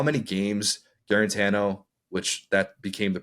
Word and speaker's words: Guarantano: it's amazing to think about how many games garano which that became the pronunciation of his name his senior year when he tried to correct all of us who we've been calling him guarantano um it's amazing to think that garant Tano